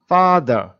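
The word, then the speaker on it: father: এখানে একটা জিনিস খেয়াল করুন এই যে ফাদার লাস্টে যে র টা র টা ব্রাকেটের ভিতরে আছে তার মানে ফাদার। এই র টা আস্তে করে ধরে ছেড়ে দিতে হবে। পুরোটা উচ্চারণ হবে না।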